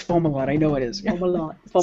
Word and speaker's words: Fomalhaut: a big discussion about whether it was formal hot or FOMA wat yeah yeah and it was lunchtime discussion we had and then they found a planet around it yeah yeah and then we had to really learned it yeah but I remember sitting here with Alan McRoberts going no it's Fomalhaut I know it is